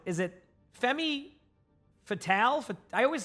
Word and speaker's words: femme fatale: Is it Femi Fatale? I always say that one wrong. People say it sometimes. Fem, so fem, and then fatal. Fem fatal? Now I know.